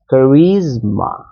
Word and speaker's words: charisma: Charisma. So এসটাকে এজ উচ্চারণ করবে না, অনেকে কারিজমা বলবে, no, don't do that, it will be jade.